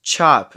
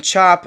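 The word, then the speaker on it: Chope: Our next minifigure here is Chop. It's not spelt the normal way. It's spelt C-H-O-P-E.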